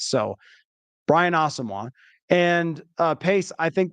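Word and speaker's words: Asamoah: I think him and Brian asoa that's the pronunciation now I was chatting with somebody today out there and I was was like did that happen and I missed it like no that actually just he just informed the team that that's how he wants to pronounce so Brian AWA and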